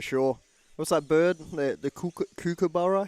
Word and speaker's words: kookaburra: The kookaburra? How do you say it? Well, I think we say kookaburra, right? Yeah. But it's kookaburra? Kookaburra. Kookaburra. I'm working on my Australian, getting right?